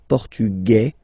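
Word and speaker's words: portugais: The Feminine form okay masculine portug you don't pronounce the S feminine form portuges you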